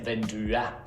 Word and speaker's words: vinduet: So for example, in English, we say the window, and in Norwegian, we would say vinduet. So this ET ending, where the T is not pronounced, by the way, is replacing the English the.